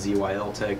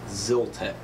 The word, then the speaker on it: Zyltech: I know in my previous video I said Zyl tech but I actually contacted their customer service to see how you pronounce it and they were very nice very friendly and it is actually pronounced Zil tech and I purchased this through Zil tech on